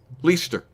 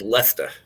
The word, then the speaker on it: Leicester: it's i'm gonna say it's a it's leicester leicester it is leicester that's very good yeah i was gonna say